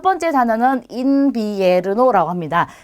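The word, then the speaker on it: invierno: 자, 첫 번째 단어는 인비에르노라고 합니다. 자, 가운데에 있는 이와 첫 번째 있는 이 둘 다 이로 발음하면 돼요. 그러면 인비에르노라고 발음이 되죠.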